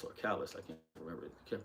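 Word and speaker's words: Callas: And this movie Maria, about Maria Chalice or Callis, I can't remember, can't pronounce the name right. Callis, there we go.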